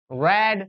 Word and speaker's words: read: in mind one thing the spelling of read first second and third form is same but second and third form are pronounced as rad red rad not